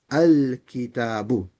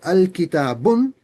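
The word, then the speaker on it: الكتابُ: So kitabun becomes al-kitabu. If you said al-kitabun, you're reading it wrong. We still know what you're saying, but you're saying it wrong.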